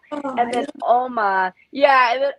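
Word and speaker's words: 엄마: Oh, And then Oma, and then Oma is how you say mother in Korean.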